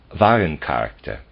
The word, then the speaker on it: Warencharakter: Footnote, translator's note, Steiner uses the German word Warencharakter, commodity character. The editor understood him to say Warencharakter, true character. Their pronunciation is nearly identical.